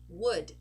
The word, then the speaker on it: would: it's an uh so could should would notice we are not pronouncing the letter O and we are not pronouncing the letter L okay next one we